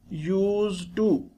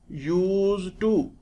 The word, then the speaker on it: used to: learn its correct pronunciation notice the letter D in used is pronounced as T the two words are joined used to when they are joined they will be read as use to use to this is written the